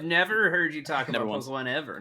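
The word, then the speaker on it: Pokémon: secret I was literally gonna I thought you pronounced it pokeemon man actually I used to do that ironically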